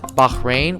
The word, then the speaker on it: Bahrain: bahrain's population oh yeah make sure you pronounce bahin with an H they don't like it when you don't do that Bahrain island is connected